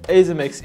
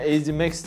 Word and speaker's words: Azemax: Merhaba web tekno takipçileri, bu videomuzda sizlerle birlikte Azimax isimli IP kamerayı inceleyeceğiz. Azimax diye yazılıyor arkadaşlar. Sanıyorum araştırmalarım üzerine Azimax diye okunuyormuş.